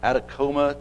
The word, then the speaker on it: Atacama: to be the atacama i believe i'm pronounced at a coma desert in northern chile